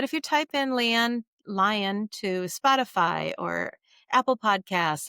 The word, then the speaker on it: Lyon: Lyon is Lyon, but it's pronounced like the animal, and .com.